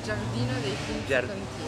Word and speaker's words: Giardino dei Finzi Contini: Yeah, I don't know, how do you say it in Italian? Giardino dei Finzi Contini.